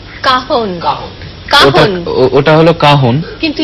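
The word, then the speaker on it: cajón: আমরা সবাই মিলে বেশ একসঙ্গে জমিয়ে যেটা বলছিলাম কাহন বাংলায় কয় আকার হয় এবং দন্তন্য নয় কিন্তু ইংরেজিতে বানানটা হচ্ছে সি এ জেড জে জে ও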